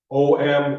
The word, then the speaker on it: Om: shouldn't say properly but the way you pronounce it is you pronounce each letter each letter oh hey you